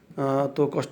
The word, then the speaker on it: tak: মালয় শব্দের শেষে যদি কি আসে তাকে এটা উচ্চারণ হয় না, লেখার সময় লিখতে হয়, না লিখলে অর্থ হবে না, কিন্তু পড়ার সময় উচ্চারণের সময় এটা উচ্চারণ হবে না। যেমন তাক, টিএকে তাক ফাহাম, কিন্তু আমরা বলবো তা ফাহাম।